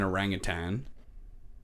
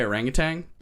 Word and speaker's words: orangutan: okay who is an orangutan yeah why do I say it like that because sometimes I say orangutang there's no G I realize there's no g at the end but it sounds better